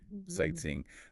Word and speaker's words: sightseeing: It sounds like sightseeing, 3 syllables. Sight like S-I-T-E-C, Yeah. like S-E-E, and ing like I-N-G. Sightseeing. The stress is on the first part, sight.